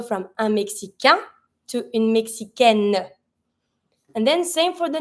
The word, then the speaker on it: Mexicaine: Careful here. Keep in mind, every time that you have the final I at the end of a noun, you always have to pronounce the consonant that's just before that I. So here, when you have une Mexicaine, feminine, you're going to have to pronounce your N.